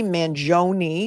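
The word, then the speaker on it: Mangione: of it there's Luigi Manon which I have learned as the correct pronunciation three syllables Manon how do I know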